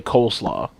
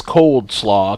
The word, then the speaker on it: coleslaw: the word looks like, there's no D in it. It's clearly coleslaw. But the way it sounds, like some people, I've heard people pronounce it both ways.